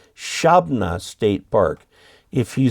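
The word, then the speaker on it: Shabbona: Flatlander, the park is actually pronounced Shabna State Park. If you say Shabona, they'll think you're from Chicago.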